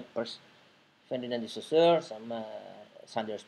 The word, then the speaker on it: Peirce: Kita masuk di era modern yang dimana dua tokoh ini ya, Ferdinand de Saussure sama Charles Sanders Peirce, tulisannya Pierce tapi bacanya Peirce.